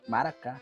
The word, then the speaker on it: maracá: é o nome certo que em guarani as palavras têm acentuação na última sílaba maracá oi e a mb